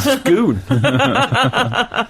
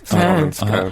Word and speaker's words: Scone: could probably call it scoon. I don't know the answer to this. Scone. Can someone posh text in? All I would say is the stone of scone. must surely rhyme with stone.